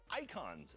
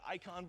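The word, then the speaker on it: Eikon: on summons which are called icons in this game okay summon an icon a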